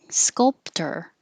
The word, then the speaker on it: sculptor: inventor or noti inventor sculptor sculptor looks like or sounds like er vehemently vehemently laughing ah